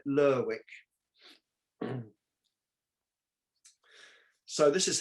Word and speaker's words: Lerwick: principal city is called lerwick it's not like beric you don't pronounce it lyric you pronounce it lurwick so this is how